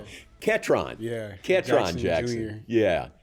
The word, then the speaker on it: Ketron: On this week's episode, we're catching up with Baylor Football wide receiver Ketron Jackson.